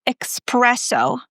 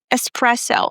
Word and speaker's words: espresso: It's not espresso, all right? A lot of people mispronounce this. We don't have the k sound. It's espresso.